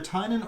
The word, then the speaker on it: Tynion: It's either Tynion or Tinian. I think it's Tynion. I've heard him on other podcasts, and I believe that's the way he pronounces it.